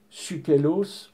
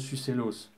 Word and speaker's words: Sucellos: alors, et qu'on appelle Sukelos ou Sukelus dans le monde gaulois. Alors, ça, je vous l'ai délivré comme ça. Ça ne se prononce pas comme ça. Ça se prononce Sucellos.